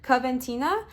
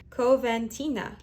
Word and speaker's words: Coventina: I have a book now that tells me exactly how to say her name. Let me look at that real quick. Coventina. Cool, I said it right. Coventina.